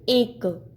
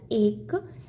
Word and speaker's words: ache: एक यू कैन see here एक ACHE, it is not H, it is ek. Okay, ek. C is silent here, so we can pronounce it as ek.